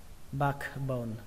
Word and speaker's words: backbone: là bạc màu bạc còn backbone Tuy nhiên để đọc nhanh thì chúng ta không cần 5k nữa các bạn nhá thân con lướt âm K qua thôi cho rằng lớn